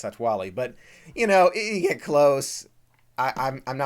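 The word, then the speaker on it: Satu'li Canteen: I've said Satuwali, and I don't think that's right. I think it's Satwali.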